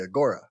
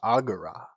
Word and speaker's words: agora: No more just shouting at each other down at the agora. future me here again it's pronounced agura.